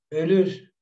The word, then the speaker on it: ölür: Ölür, ölür, morir. Si se dan cuenta que es diferente la pronunciación, una cosa es olur y otra cosa es ölür. Es diferente.